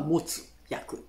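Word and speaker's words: 没薬: ボツって書くんですけれどもね、発音はモツ薬です。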